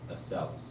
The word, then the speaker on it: Acellus: Acellus, yeah.